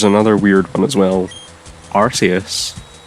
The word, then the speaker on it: Arceus: Arceus. Or should I say Arceus, because it's not pronounced Arceus. And I don't know why. Is it because it sounds like arse when you say it?